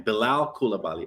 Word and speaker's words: Bilal Coulibaly: That's how you say his name, Bilal Coulibaly.